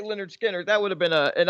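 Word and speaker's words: Lynyrd Skynyrd: Florida being Florida segment, Florida man wanted for stealing a trove of Leinard Skynyrd, is that how you say it? Memorabilia? No, that's Leonard Skinner.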